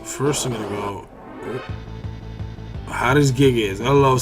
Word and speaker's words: Hades Gigas: It's probably, you know, someone else would probably say Hades Gigas. But just the way it's spelled, and just the way that me and another one of my friends used to talk one time, talk about stuff, is that's how we used to pronounce it or whatever.